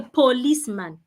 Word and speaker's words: policeman: Not I met a policeman. The O there is not sounding O. The O there sounds Please.